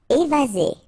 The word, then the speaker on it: évasé: Évasé. Remember, one S between two vowels. Z. Évasé. Courant.